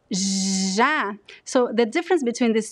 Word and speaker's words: já: Chá, but the word já is very voiced. It's a very strong sound, and all of the cords are vibrating when you pronounce já, já.